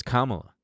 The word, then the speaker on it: Kamala: what was next and people still don't know if it's kamala or kamala it's kamala i know she's such a